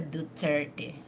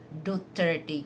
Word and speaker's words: Duterte: It doesn't really matter the tone, but they have to pronounce it correctly. Not Dutert. We don't have President Dutert but we had President Rodrigo Roa Duterte because even though you